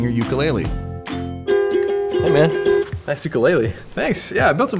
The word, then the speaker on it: ukulele: ukulele hey man nice ukulele thanks yeah i built it myself uh actually in hawaii it's pronounced ukulele you don't have to